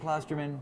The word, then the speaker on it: Klosterman: It looks like Klosterman. There's no umlaut. There's not two O's. Right. And I don't really care that much, I guess. Yeah. I suppose it seems crazy to me to complain about the mispronunciation of your name when there's no logical reason to pronounce it any other way.